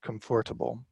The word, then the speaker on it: comfortable: lot of students make comfortable in order to show that there is a silent syllable in there it's the the or